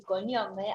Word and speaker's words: cognome: Sí, pero el conombre y cognome hay una diferencia de pronunciación que está entre la N, que evoluciona en castellano, y esa fonética de la GN que no evoluciona en el italiano.